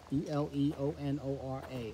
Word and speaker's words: Eleonora: next thing is from i think he's pronounced this name alianora e-l-e-o-n-o-r-a eleonora yes and oh eleanor i